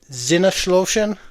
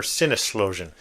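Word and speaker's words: Sinneslöschen: Or is it more sinloan in Deutsland? That is pronounced with a zed. It's It's written with an S, but it's pronounced with a Z.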